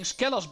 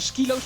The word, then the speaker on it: Skelos: in skilos Badlands and I've been saying skellos Badlands this whole time now you're saying you actually pronounce it the skilos bad LS you should have mentioned